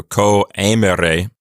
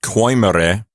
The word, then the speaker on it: coemere: Notice the two dots over the E in coemere. That is called a diaeresis, and it means to not pronounce those two vowels as a diphthong. So you say co, and then you say the E sound separately. So coemere. It's not coimere.